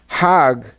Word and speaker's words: Hajj: around the circles now Hajj is a pilgrim to Mecca Haag is the Egyptian pronunciation hag in Hebrew means